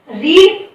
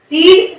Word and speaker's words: read: Then रीड, रीड, रेड, रेड spelling वही रहती है लेकिन प्रोनाउंसिएशन अलग होता है, रेड, रेड और रीडिंग।